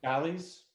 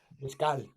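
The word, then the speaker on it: Escales: Galleys? Am I saying that wrong? There's a recording. L'escale, thank you. And yeah, There's a pronounce it correctly. L'escale.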